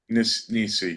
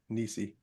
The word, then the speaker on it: NiSi: Pat Lynch wanted to know a little more info on NISA filter that you were using. The Nisi filter? Nisi, yeah. Yeah, it's spelled capital N, small I, capital S, small I, Nisi.